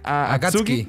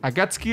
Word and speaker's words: Akatsuki: Akatsuki. Akatsuki, eso.